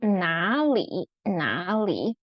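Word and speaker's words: 哪里: The one in front of it need to pronounce as second tone. So it becomes 哪里.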